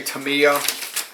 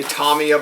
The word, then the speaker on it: Tamiya: you about the aircraft Tomia likes to give you a nice little broch Shore I hear many people say Tamia I say Tomia because I believe that's actually how it is pronounced and you have one